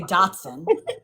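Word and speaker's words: dachshund: So my uh my son just uh went and got him a miniature d'acha. How do you say it? Do Well, if you're talking, you say Datson.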